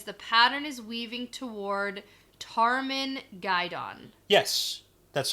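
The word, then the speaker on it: Tarmon Gai'don: a dragon because the pattern is weaving toward Tarman guidon yes that's how you pronounce it - okay and the glossary definition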